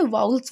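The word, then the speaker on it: vowels: इसे हम वॉवेल नहीं बोलते, इसे वाउल्स बोलते हैं, वाउल्स एंड कॉन्सोनेंट्स।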